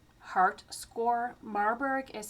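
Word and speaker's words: Marburg: Usually in the hospital there is an a guideline called Marberg heart score. Marberg is spelled M A R B U R G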